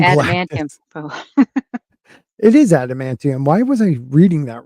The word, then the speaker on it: adamantium: Um, they got the ab ab abmantinum from yeah, that's not how you spell it. Um, The from adamantium. Galactus. Oh, It is adamantium.